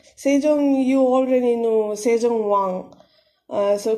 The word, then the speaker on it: 세종: Be very careful with the pronunciation here because it's a bit complicated. 세종. Sejong, you already know Sejong so King Sejong.